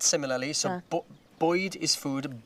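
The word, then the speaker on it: Bwyd: Boyd is spelt similarly, so Boyd is food, Bywyd is life.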